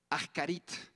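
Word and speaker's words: אחרית: Esta palabra es la palabra ahkarit. Ahkarit. Se pronuncia ahkarit, se escribe así, como en la parte de arriba.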